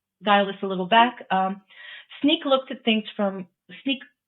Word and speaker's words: Snyk: ago, Brian Vermeer from Sneak. I just learned it's actually pronounced Sneak. All right. And they're also in the security space, but from my understanding, ARMO is slightly different. So Sneak mostly looks at like